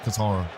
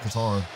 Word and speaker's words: Qatar: But now I I know this is is it's the it's pronounced Qatar. Also, the Q is basically silent. All right, Qatar. Qatar.